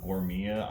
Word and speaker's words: Gourmia: got we bought it from Costco it's uh gourmia I'm not sure if I'm explaining it or uh pronouncing it right but I'm going to be calling it gourmia from here on out uh it's got the